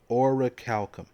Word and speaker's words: orichalcum: Okay, so pronunciation? Here we go. You're all ready? Orichalcum.